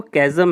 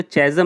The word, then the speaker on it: chasm: ये CHASM जो है वो कैज़म है, इसको चैज़म नहीं बोलते, कैज़म बोलते.